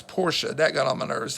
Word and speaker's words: Porsche: I had a Porsche before and the company pronounces it were the name Porsche so that's how the Porsche family name is pronounced not Porsche it's a pet peeve of mine when people